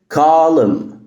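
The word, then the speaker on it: column: معانا النهارده وهي كلمه كالم كالم كالم كالم يعني عمود الام لما جايه بعدها ان ال ان بتبقى سايلنت تاني لو الفيديو عجبك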